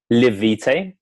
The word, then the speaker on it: Live Vitae: Is that how you pronounce it? Live Vitae, but yeah, that goes as well.